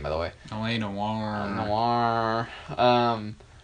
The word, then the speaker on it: Noire: Noire. Which is really weird because it's spelled, it's got an E. Yeah, I hate that. That bugs me. I'm like, why? Noire.